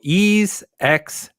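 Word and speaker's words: Ys X: Sorry, if you're a PlayStation guy, you have to pronounce it East Cross, I believe.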